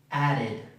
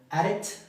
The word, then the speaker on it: added: No es ad, ¿okay? No es la misma e que en español. Es una suena más como una i. Added, added, wanted, needed, wanted, needed, added.